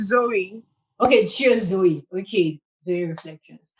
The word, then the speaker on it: Zoe: your name i'm like did i get the pronunciation right today it's zoe okay cheers zoe okay